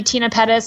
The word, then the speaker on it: Tena Pettis: But my name is a little bit quirky, Tina Pettis. It's spelled Tena, and you can find me everywhere at Tina Pettis, like everywhere.